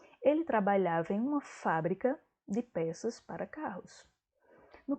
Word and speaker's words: fábrica: verbo fabricar então ó o primeiro é sempre fábrica com acento eu tenho substantivo a fábrica é